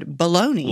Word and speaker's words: bologna: never would have thought you would have said baloney well because it's an easy word but it's not easy to spell yeah but i mean i spell it it's got a silent g in it but i see it